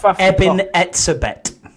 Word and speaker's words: Eben Etzebeth: Eben Etzebeth.